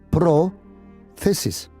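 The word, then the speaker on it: πρόθεσις: Porque esa palabra en griego se pronuncia prothesis.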